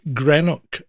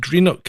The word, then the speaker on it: Greenock: And that's spelled exactly like it sounds. Green and OCK. And all English people I've ever met have said Greenock. And no, it's pronounced Greenock, exactly how it's fucking written.